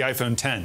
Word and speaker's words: iPhone X: I like that it's the iPhone X, but it's the iPhone 10 is how we're supposed to pronounce it.